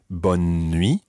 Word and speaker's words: bonne nuit: pronunciation of that freeze sometimes it might be bonne nuit almost with that kind of skipping in in the middle or other times it